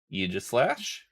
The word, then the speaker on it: Aegislash: Aegislash. And yes, that is the official pronunciation on it.